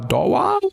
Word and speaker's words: Dawa: Is it pronounced Dawa or Dawa?